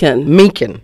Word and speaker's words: Mencken: How's it pronounced? Mencken.